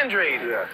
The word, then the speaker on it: Andrade: you know former Nation my last name is Andrade and so when they see me as son that sounds pretty sexy to me right and in America is pronounced Andre so I get it